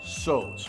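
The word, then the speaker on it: Tso: This is the General So's cauliflower, and I did check the pronunciation. It is So's.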